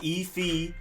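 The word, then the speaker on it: Ifeatu: worked on this video effie to melifonwu and you're technically supposed to emphasize e fee and and then you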